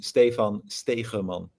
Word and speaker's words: Stephan Stegeman: If I would be uh saying it in the Netherlands in Dutch, it would be Stan Stramon.